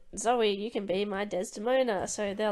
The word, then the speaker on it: Desdemona: while also in the context of Othello and Desmodina and all that. Desdemona.